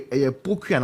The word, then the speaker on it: Pokua: A word way poku and I say pokua. Poku and I say pokua. POKUA. How do you pronounce?